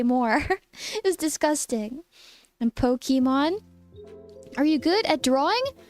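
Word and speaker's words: Pokémon: But the A, like the E with the accent is like eh. So it's Pokemon.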